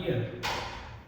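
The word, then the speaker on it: ihr: We next आता है हमारा ईयर। ईयर जैसे हम कान को बोलते हैं ना इयर इ ए आर इयर सेम की सेम कनसेशन ईयर।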